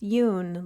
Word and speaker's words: Jung: And we're going to talk about Carl Yun. So, his name is spelled J U N G, but it's pronounced Yun like it rhymes with moon in case you're wondering.